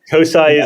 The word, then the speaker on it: CoSAI: I think COI is COSIA is the approved pronunciation of it.